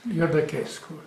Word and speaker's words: Iordachescu: Do I pronounce it correct? Yes, Iordachescu is very well.